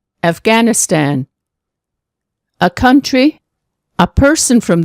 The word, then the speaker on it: Afghanistan: G, Afghan, Afghanistan.